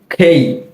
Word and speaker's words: K: এর প্রোনাউন্সিয়েশনটা হচ্ছে কি খেই খেই, আর কে বলা যাবে না, কি বলতে হবে খেই।